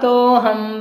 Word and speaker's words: तोऽहं: दिग्वलयं परिगणितम् कृत्वा तोऽहं बहिर्न यास्यामि कृत्वा तो अहम, तो अ में अ साइलेंट है, अहम बहिर्न यास्यामि ऐसा पढ़ना है।